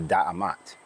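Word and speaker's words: D'mt: She would have been part of the DMT Empire, or because we can't pronounce it correctly, some people pronounce it the Da'amat.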